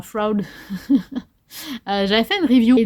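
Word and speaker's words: Froud: de F Fairies Oracle de Brian FRUD qui se prononce probablement frou j'avais fait une review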